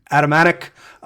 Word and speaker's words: Atamanuik: It's very difficult to pronounce his last name, but I want to say Atamanuik.